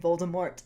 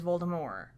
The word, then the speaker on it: Voldemort: out and everything and they said Voldemort in the movies with the hard tea he actually switches to